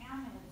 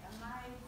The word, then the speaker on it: amides: Okay, so chapter 17, you've got carboxylic acids and esters in amides. I know that looks like amides, but in chemistry, we say amides.